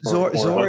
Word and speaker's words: Dhor: Zor is, and it's not easy because it's spelled DHOR, but it's actually pronounced Zor with a Z.